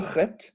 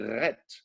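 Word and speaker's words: חית: La prononciation est extrêmement importante et très difficile pour nous occidentaux. On va dire de dire chet. Un Français, il va dire ret, il va dire un R.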